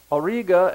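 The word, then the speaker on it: Auriga: river of fire and judgment then we have Orga a u r i g a which is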